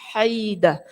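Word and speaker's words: حيدة: ialah muawiyah bin Haidah ejaan namanya dibaca dengan huruf ha dan dengan mensukunkan huruf ya jadi puny hai oke Haidah Ia adalah seorang sahabat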